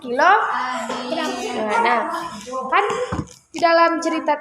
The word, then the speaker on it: kilogram: Bukan kg, ini bacanya kilogram.